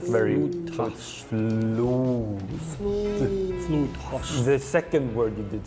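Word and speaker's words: flodhäst: This one, flodhast. Very good. Ooh. Flodhast. Flodhast. The O is pronounced ooh, like very flodhast.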